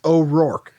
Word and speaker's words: O'Rourke: super hard last name but it's o'rourke it's just like fork with an r right here yeah i